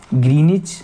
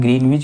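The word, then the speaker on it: Greenwich: सभी देशों ने निश्चय किया कि ग्रीनविच, देखिए ग्रीनिच हमारा इसमें एनसीईआरटी में वर्ड ग्रीनिच दिया हुआ है, हम ग्रीनविच भी बोलते हैं। जहाँ ब्रिटिश, वैसे तो साइलेंट रहता है डब्लू हमारा, तो ग्रीनिच ही बोलते हैं, लेकिन जो भी आप बोलिए।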